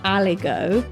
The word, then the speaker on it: aligot: And is that spelt with a silent T at the end? Yes, it is.